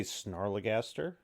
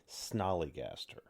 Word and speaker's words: Snallygaster: So we say Snarlygaster throughout a lot of this. It is technically Snallygaster.